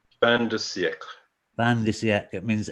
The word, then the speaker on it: fin de siècle: That fin de siècle. Fin de siècle.